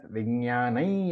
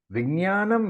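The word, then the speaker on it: विज्ञानं: Traditionally, it can be pronounced as Vijnanai Yajnam Tanute. Why? Because the Anuswara, the dot above the na, is followed by ya. So, Vijnanam Yajnam Tanute is okay. Vijnanai Yajnam Tanute is also okay.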